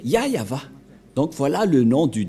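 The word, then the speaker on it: YAHYAHVAH: et donc c'est bien la vraie prononciation de son nom yayava voilà le ya et voilà la suite après y yava voilà et vous voyez bien que c'est bien son nom d'invocation qui est yayava donc voilà le nom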